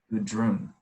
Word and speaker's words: Gudrun: And if he gave you a name, he probably gave you the name Gudrun. And would that mean anything to us? No. How do you spell that? G-U-N or G-U-D-R-U-U-N. Gudrun.